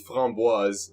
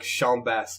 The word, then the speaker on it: framboise: It's framboise, which is raspberry. But I used to say it. I used to say it like chambasse because I'm a fucking idiot. It's like framboise.